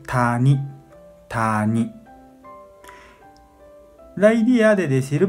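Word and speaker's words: 谷: Y para decir, no, para pronunciar, onyomi pronuncia kok, kok, ku. Y también ya, ya. Kunyomi pronuncia tani, tani.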